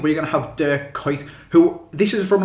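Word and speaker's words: Kuyt: his name is De his name is De kite or de cout or something like that I don't even know how to pronounce it properly myself but I know for a fact that it is not K and I think it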